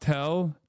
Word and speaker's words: TEL: TEL is pronounced tell transporter erector launcher.